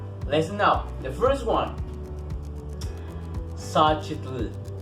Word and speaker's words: Xochitl: Xochitl. Xochitl.